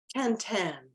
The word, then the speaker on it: Quentin: He pronounces it Quintin. Okay, Quentin is the in English, it looks like Quentin.